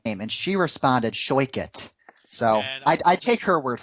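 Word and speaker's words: Shoichet: I think her last name is pronounced Shoikit. Rebecca Shoikit, because she told me that on Twitter.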